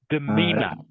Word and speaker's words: demeanor: This word here, actually, you pronounce correctly, Kakzung. Can you say it again, please? Demeanor.